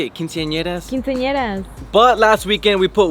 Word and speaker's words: quinceañeras: Quinceañeras.